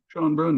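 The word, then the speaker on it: Schoenbrun: And the subject of that news is Jane Schonebrun, I imagine is how it's pronounced, Schonebrun. Schonebrun, yeah, yeah.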